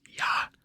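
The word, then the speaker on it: ja: yes and no which uh in Norwegian is yah for yes and then n for no yeah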